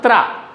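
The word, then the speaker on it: त्र: Sanyuktakshar second letter is pronounced tra.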